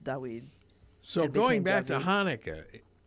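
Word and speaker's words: דוד: So it probably was at one time pronounced Dawid.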